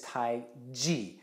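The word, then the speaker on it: Taiji: What we should be saying is Tai Chi. And Tai Chi, those two words, mean great ultimate, or really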